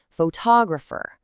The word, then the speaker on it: photographer: We start with photography, heavily stressing that first part, but add a suffix and the stress has to move to balance the word out. Photographer.